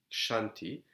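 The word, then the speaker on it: Kṣānti: is the third parameter i added the h because it's pronounced shanti it is translated as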